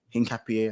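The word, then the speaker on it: Hincapié: And of course, Arsenal secured the signature of Hin Cappy. Hin Capier is how you say his name as well on deadline day.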